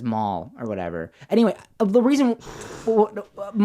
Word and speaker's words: Mal: wanted to say that mall. Oh, subtitles. I always wanted to pronounce it mal, because I guess I'm in my American. brain when I see the spelling.